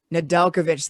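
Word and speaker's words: Nedeljkovic: the cup eventually so they won't be upset nadelkovich that's how you pronounce it dustin we were like not on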